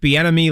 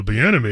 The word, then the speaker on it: Bieniemy: We're putting names in there that make people go, oh, Bieniemy. Okay, yeah, that's a name I've heard before. And they already know who they're hiring. And it rhymes with schmatterschmay.